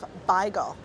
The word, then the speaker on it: beigel: is a salt beef beigel. I wasn't trying to say bagel, I was trying to say beigel. Beigel is the traditional Yiddish pronunciation for bagel, or bagel, I've heard some people say.